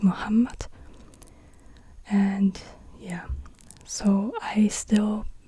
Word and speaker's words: Muhammad: Muhammad the ha this it's not M muhamad but it's Muhammad and yeah so I